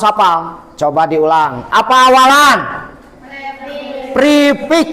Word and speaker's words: prefix: Prefix. Prefix ditulisnya pre, dibacanya pr prefix awal.